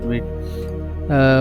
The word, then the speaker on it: Vite: अच्छा, यहाँ पे ये देखें लिखा हुआ है कि वीट French word for quick pronounce वीट, मतलब कि वीट का जो मतलब है वो हमारे पास है क्विक फास्ट, ठीक है।